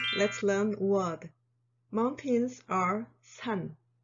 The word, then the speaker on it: 산: Mountains are 산, 산.